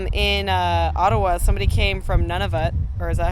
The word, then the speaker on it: Nunavut: Somebody came from Nunavut, or is that how you say it? Nunavut?